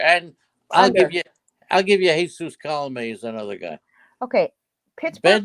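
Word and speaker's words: Colomé: It's Colome.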